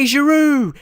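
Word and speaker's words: Giroud: you hear that olivu Olivier jaru that's how you say his name I'm not saying it wrong and we still the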